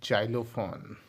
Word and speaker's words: xylophone: XYLO जाइलो, PHONE फोन, क्या हो गया? जाइलोफोन।